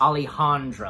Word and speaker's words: Alejandro: was just about close it's Alejandro Alejandro that's how you say it and Alejandro being